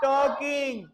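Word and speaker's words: talk: कैसे बोलोगे stop टॉकिंग बातें बंद करो स्टॉप टॉकिंग बातें बंद करो स्टॉप टॉकिंग बातें बंद करो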